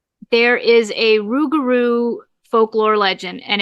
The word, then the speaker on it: rougarou: There is a rougarou folklore legend, and it's pronounced sometimes it's pronounced a lougarou, but it's a Cajun folklore.